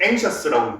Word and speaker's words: anxious: 그래서 X의 발음은 크게 두 가지다. 뭐하고 기억 시옷이 되는 경우하고 그 다음에 아예 지읒이 되는 경우하고 크게 두 가지로 나뉜다고 생각을 하시면 됩니다. 여기서는 기억 시옷으로 쓰이고 여기서는 지읒으로 나오는 거죠.